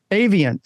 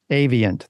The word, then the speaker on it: Avient: Avient. See, there we go. We learned something right away that we say Avient. That's how you say it.